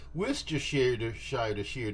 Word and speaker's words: Worcestershire: About a teaspoon to a tablespoon, depending on your taste, of Worcestershire sauce. Yeah, that's how you pronounce it.